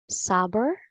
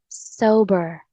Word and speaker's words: sober: The correct pronunciation of this word is Sober. so in American English, it's sober, sober. The letter R is clear, and the stress is on the first syllable. And the British English is sober. The letter R sound is dropped.